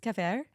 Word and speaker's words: kefir: It's actually pronounced cafair.